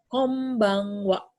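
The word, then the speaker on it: こんばんは: homebank Wakwaw by Andy sini dibacanya enggak n ketemu B dibacanya m jadi Kombang Wakwaw seperti itu om bahwa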